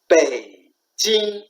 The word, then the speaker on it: 北京: And then Beijing, you say Beijing as English sound, that's not Chinese sound. It's Chinese sound is Beijing, Bei, stop. And then Jing, Beijing. Okay, that's one by one.